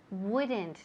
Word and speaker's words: would: Empieza con W. El mismo sonido cuando empezamos las palabras de what, where, will, why, when, William. Si fijaos bien, el sonido viene de aquí, es bastante labial.